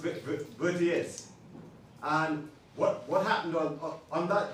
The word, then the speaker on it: Vertières: That's how it's spelled. It's spelled like that. It's got funny French spelling to it. Yeah, but it's pronounced Vertiers.